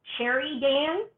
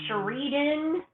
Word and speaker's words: Cheridan: I've gotten Sherry Dan. Um Sheridan. Um I've had where people call me like Sheraton.